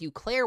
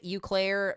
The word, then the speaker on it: Eau Claire: So we've now got 70-mile-per-hour winds headed towards Eau Claire, Wisconsin. So brand new severe thunderstorm warning, damaging winds up to 70 miles per hour. Barron County, Wisconsin, Polk County, Wisconsin, Chippewa, Dunn, Eau Claire, Pierce, and St.